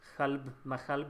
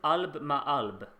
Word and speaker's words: Khalb Mahalb: So I guess Khalb Mahalb is the next one then. Yeah. I pronounce it wrong. He says it Alb Ma'alb.